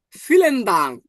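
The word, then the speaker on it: vielen Dank: বিটাকে always এখন কি উচ্চারণ করবো? ফ। আর ই এ, ই এ, তাহলে এটার উচ্চারণ কেমন হবে? এটাও এর মতো উচ্চারণ হবে, তাহলে ফি, ফি।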